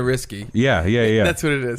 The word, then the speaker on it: Ricci: And Google her name too, because I think we all say Ricci, but I don't think it is. I think it might be like the first C is pronounced like an S. Yeah, and the second one is a K, so it's like Christina Risky.